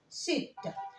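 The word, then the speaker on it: sept: البي هنا نو سو برونونس با، ما بنطقهاش، بس بنطق التي. هقول ست.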